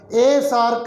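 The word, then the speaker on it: SAARC: association for regional cooperation it is a complete word though it begins with yes but what is it what is its pronunciation sa therefore we pronounce it as a sark country a nato member north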